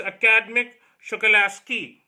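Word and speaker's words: Akademik Shokalskiy: So it's Academic Shokalasky. So that's the real pronunciation.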